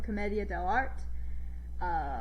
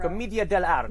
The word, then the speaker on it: Commedia dell'arte: The Harlequin is an archetype from A Mask from Commedia dell'arte, which I am mispronouncing, but it is a Renaissance form of improv. Commedia dell'arte.